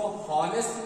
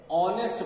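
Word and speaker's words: honest: दूसरा वर्ड है और, इन दोनों वर्ड में एच जो है ना ये साइलेंट है। हम इसको हॉनेस्ट नहीं पढ़ते, ऑनेस्ट पढ़ते हैं। क्या पढ़ते हैं? ऑनेस्ट पढ़ते हैं, हॉनेस्ट नहीं बोलते हैं, ऑनेस्ट बोलते हैं।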